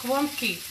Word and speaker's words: gołąbki: It's spelt G-O-L-A-D-K-I, so I keep pronouncing it that way. It's gołąbki.